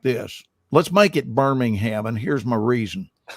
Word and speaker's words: Birmingham: You fly him to the other Birmingham, which is pronounced Birmingham.